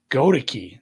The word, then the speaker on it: Goedeke: Goedeke.